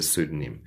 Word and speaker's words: pseudonym: We refer to this as a pseudonym.